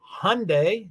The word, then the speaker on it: Hyundai: to the number of Hyundai rhymes with Sunday Hyundai Elantra that the